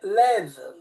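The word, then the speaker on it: לב: Sapete, la parola cuore in ebraico si legge lev.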